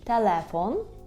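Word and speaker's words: telefon: У слові «телефон», «телефон», так, «телефон», тільки знову ж таки зверніть увагу на наголос, «телефон», і «л» повинно бути м'яке, «телефон», так, кінчик язика до верхнього піднебіння.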